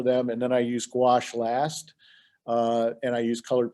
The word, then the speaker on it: gouache: I think I pronounced gouache correctly.